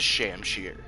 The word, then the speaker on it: shamshir: Okay, so it is Shamshir. So I was kind of right with one of my pronunciations.